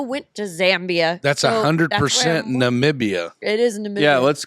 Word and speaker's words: Namibia: you were in nambia Namibia starts with an N not an M big guy that's why I said nambia that's not what you said it's Namibia but okay that's how you say it Namibia Namibia Namibia this makes